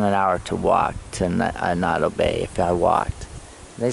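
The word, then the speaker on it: Annotto Bay: Anato, they spell Anado, that's how they pronounce it, but it's Anato Bay.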